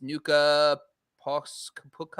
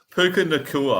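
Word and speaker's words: Puka Nacua: player they picked up was, I think it's Nuka Puka. I don't know. I couldn't even tell you how to say it. Puka Nakua.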